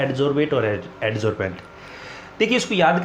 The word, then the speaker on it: adsorbent: बेंट की जो pronunciation है उसको कैसे याद रखें, बेंट बेंट टेंट, मतलब इसकी जो प्रोनाउंसिएशन है बेंट वो कैसे याद रखोगे, टेंट याद रखोगे।